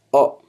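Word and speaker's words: を: also wah-wah and then with the war character is that when it's in a word you probably pronounces as well but when it stands as a particle you pronounce it as o and yeah cool and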